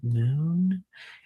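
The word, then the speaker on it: Mun: But why is it pronounced moon?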